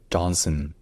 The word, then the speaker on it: Johnson: donc Joh et enfin la deuxè syllabe le voyelle n'est pas un a en fait la voyelle n'existe pas vraiment c'est un N qui est prolongé suffisamment pour qu'on ait pas à prononcer de vraie vOYEL donc ce n'est pas son c'est Sun donc Johnson Dustin Johnson Dustin